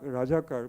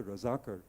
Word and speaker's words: razakar: qua I me basically rajak rajakar with the banga pronunciation actually the razakar who were collaborators of